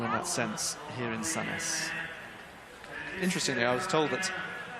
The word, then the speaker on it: Sandnes: that sense here in Sandnes. Interestingly, I was told that if you're from the east of Norway in Oslo, you might pronounce it slightly differently. Sandnes or Sandnes, with the D almost being silent.